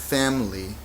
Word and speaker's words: family: Y la última palabra aquí, family, parece muchísimo a la palabra familia, pero aquí tienes que pronunciarla en dos sílabas.